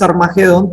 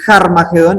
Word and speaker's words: Harmagedón: Nosotros decimos Armagedón, pero empieza con esta comillita, con ese espíritu, que quiere decir Harmagedón, entonces siempre lo hemos estado pronunciando de mala manera.